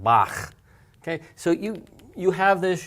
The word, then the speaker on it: Bach: For example, in Scottish, right, the word Lach. Lach. Think of the great German composer, Bach. Not Bach, but Bach.